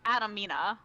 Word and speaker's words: Adamina: Also, I don't think I gave the correct, like, pronunciation. It's, Adamina.